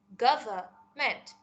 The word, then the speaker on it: government: wrong but I am saying the correct word Gava meant government if you ever listen to BBC English